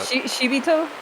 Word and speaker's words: Shibito: It's not Shibito. I keep saying that. Shibito, I think, is the intonation. Shibito. That's right. It's the second I after the B that you inflect.